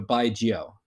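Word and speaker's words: 白酒: pronounce it usually is like you say like by like that's pretty straightforward like you're saying goodbye to someone and then the second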